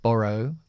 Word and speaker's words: borrow: aquí can can can borrow borrow est acentuando al principio o siempre nos hace